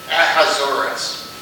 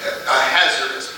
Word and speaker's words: Ahasuerus: And I've heard it pronounced several different ways, but I believe it's pronounced Ahasuerus. Also Ahasuerus, possibly.